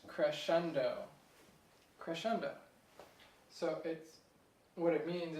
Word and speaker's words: crescendo: So it's actually pronounced crescendo.